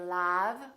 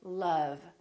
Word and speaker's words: love: And once in a while, this sound is also spelled with the letter O, as in words like love. We don't say love, we say love.